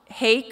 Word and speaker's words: Hake: Brandy and Cassie Hake from, I always want to say Hawk, and I have to remind myself it rhymes with cake.